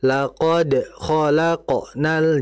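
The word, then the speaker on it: لقد خلقنا: Contoh tadi, laqad khalaqonnal in. Nah, itu seperti berat. Laqod khalaqnal. Jangan di ee lunakkan. Laqod khalaqonal. Laqod khqonal. Nah, jangan kayak sakta, jangan kayak berhenti. Laqad khalaqnal, jangan yang betul. Laqad khalaqonal seperti itu.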